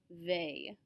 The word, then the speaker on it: vais: So remember that the letter combination AIS is always pronounced A. This is how we get je vais.